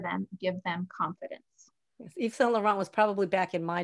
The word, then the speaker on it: Yves Saint Laurent: So the quote, well, you'll have to, do you know how to pronounce the name? Yves Saint Laurent. Yves Saint Laurent.